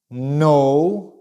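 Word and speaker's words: know: Boat Boat coat coat no no notice that we don't pronounce the k sound we don't have the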